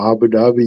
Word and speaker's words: Abu Dhabi: it was in uh um I can never pronounce the name of the place ABI abuo oh Abu Dhabi yeah yeah Abu Dhabi so uh you know